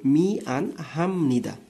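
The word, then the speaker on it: 미안합니다: তারপরটা উচ্চারণ করেন যে মি আন হাম নিদা। এখানে হাম কেন হচ্ছে সেটা আমি পরবর্তী ভিডিওতে আপনাদের সাথে আলোচনা করবো ইনশাল্লাহ। তবে আপাতত এটা মনে রাখেন যে বিয়োপের পরে নিয়ম থাকলে সেই বিয়োপটা মিয়ম উচ্চারণ হয়ে যায়, অর্থাৎ এই বিয়োপের উচ্চারণ ব থেকে ময়ে হয়ে যায়।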